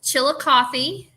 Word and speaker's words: Chillicothe: checking out your town it's how do you pronounce it by the way it's Chillicothe all right it's an old Indian it's derives